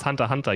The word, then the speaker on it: Hunter x Hunter: bro can you stop it's just Hunter Hunter you don't even say the X and I didn't know